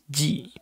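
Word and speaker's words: じ: dalam kelompok Za ini dia kita baca Ji bukan Zi Jadi pakai j Ji Oke sini saya baca Za Ji Zu Ze zo sekali lagi Za Ji Zu Ze zo untuk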